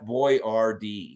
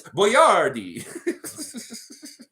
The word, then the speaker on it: Boyardee: been practicing to pronounce Boyardee Perfecto you know when I was a kid it was always Chef Boyardee Chef boy Rd but I know it's Boyardee and yeah it's such